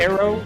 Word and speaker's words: tarot: Tarot card. Tarot card. Tarot Tarot card. But But hey, hey, hey, listen. If it's pronounced tarot, then why is the T in there?